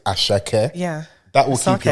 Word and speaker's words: Asake: I don't want to pronounce it, but she's like, no, it's Ashake. Yeah, that will keep you on point. Yeah, Asake.